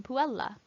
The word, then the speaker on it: puella: Note that each L is fully accounted for in puella. Double consonants are doubly pronounced.